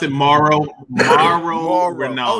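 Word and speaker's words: Mauro: First of all, can we pronounce it Morrow? Morrow Ronaldo. Oh, like Mark. Okay, Morrow.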